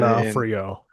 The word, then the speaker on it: D'Onofrio: It's like D'Onofrio. This guy's been in a ton of movies. He's been in D'Onofrio.